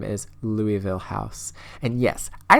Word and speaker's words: Louisville: These are like the biggest houses that I built, but I found a house on Instagram that is located in Louisville, Kentucky.